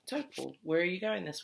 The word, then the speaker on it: Taupō: You can just say taupō.